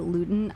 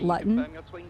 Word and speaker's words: Luton: also decided that I'm not going to call it Luton I'm gonna call the name like it's spelled and called it Latin yeah huge Latin fan